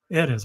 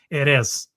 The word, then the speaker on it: Erez: was with us, and I always pronounced his name correct, Erez. But Sunday I was exhausted, and I just came back from the travel, the cultural festivals, and all that, and I call him Erez.